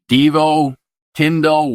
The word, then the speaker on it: Deevo Tindal: DVO Tindle, welcome to your intended message.